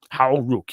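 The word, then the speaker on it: Hau Ruck: So how do you pronounce? Is it Howruck? Howruck, yep.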